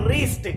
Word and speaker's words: wrist: हम लोग इसको वरिष्ठ नहीं बोलेंगे, इसलिए W के बाद में यदि R आता है तो हम लोग W को साइलेंट कर देते हैं।